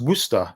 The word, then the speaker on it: Worcester: city as worcestershire is the county and it's pronounced worcester yeah worcester sauce connor says yeah it was